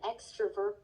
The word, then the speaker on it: extrovert: My mom has an extrovert personality. My mom has an extrovert personality. Extrovert. 익 아니고 액이네.